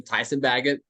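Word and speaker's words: Tyson Bagent: bagett I know how to say his name Tyson bagett he's he's different you know they don't they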